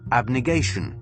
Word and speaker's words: abnegation: pronounce this was as application there's no difference abnegation abnegation alright that's his pronunciation of the word now the meaning of